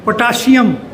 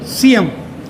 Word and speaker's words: potassium: they used to pronounce potassium. Potassium. Whereas this is not potassium, it's potassium. Sium. Not sha. It says sa.